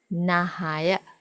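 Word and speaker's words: නහය: Nose, nahaya, nahaya.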